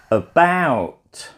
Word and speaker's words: about: than the other syllable but how about that first syllable what is the sound that I'm making then if it was like the letter it would be a bound a bout if it was the shorter version it might be at about and